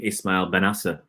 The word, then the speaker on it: Ismail Bennacer: He actually sent me a recording of how to say his name, Ismail Bennacer.